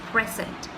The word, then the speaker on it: present: present present tense we we stress on the first syllable which is present so well said so